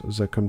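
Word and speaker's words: Zaqqum: He thinks Lucifer himself did bestow upon them a fruit the infernal Zachquim Zakum I can pronounce that it's Zakum tree whence the scent of the bones do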